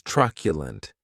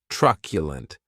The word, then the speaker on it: truculent: The next adjective is truculent, and this word has 3 syllables, and the stress is on that first syllable.